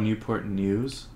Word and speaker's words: Newport News: How do you say, it's called Newport News, like Channel Yeah.